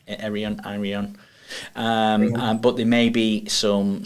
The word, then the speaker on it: Arion: Then you've got your colleagues coming from Arion. Yeah, Did I from pronounce Arian. that correctly? Arion. Arian.